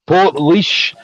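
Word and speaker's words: Portlaoise: that name right because i've been saying that name wrong since the very start so port leash um and as there's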